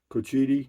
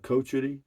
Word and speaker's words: Cochiti: in a previous video cochiti cochiti cochiti cochiti cochiti yeah he it's coh it's pronounced like coach et whatever it doesn't matter